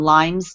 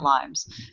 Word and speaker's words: Lyme: like Lyme disease and Lyme's disease. It's really Lyme. There is no S because the town is Lyme, like Tay said, right? It is not Lyme's. So it's people say Lyme's, but it's Lyme.